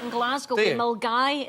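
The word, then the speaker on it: Milngavie: Mulgai. It's spelt Millingavi, but we pronounce it Mulgai.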